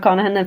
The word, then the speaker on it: Connaghan: Yeah, you would definitely find me all over, Connaghan. If you search, it's like Monaghan with a C, but there's the G is silent in the middle, so it's CONNAGHAN.